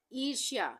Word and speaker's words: ईर्ष्या: ईर्ष्या, ईर्ष्या हम इस तरह से लिखेंगे, ईर्ष्या, ईर्ष्या, यहाँ पे रेफ की मात्रा लगी है, ये आधे रा के उच्चारण के लिए।